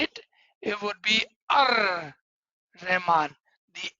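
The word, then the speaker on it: الرحمن: If what is written over is Al Rahman, Al Rahman. But if you are saying it together, it would be Ar Rahman.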